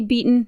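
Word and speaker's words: Batin: it but the uh the three things that I looked up that offered pronunciation for b a t i n all said beaten okay beaten you made a solid effort Jen and it's beaten it's going to be beaten so unlike the Marshall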